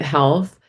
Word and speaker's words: HLTH: run marketing across um health which many of you may know if you're in the healthcare industry um HLTH but we call we actually pronounce it health and Vive.